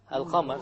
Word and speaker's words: القمر: Al-Qamar. So again, we have the moon, the lunar letter, which is the qaf over here. So we pronounce the lam.